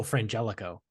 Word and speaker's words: Frangelico: no with the woman on the bottle oh Frangelico damn not frano I didn't I you know I did hear